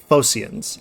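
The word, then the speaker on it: Phocians: well as the the I keep on wanting to say Phoenicians. Uh Fosians, I think is how you pronounce it.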